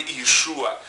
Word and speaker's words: Иешуа: Иисус, его звали Иешуа, мы произносим как Иисус, англичане говорят Jesus, на разных языках по-разному звучит это имя, но принцип тот же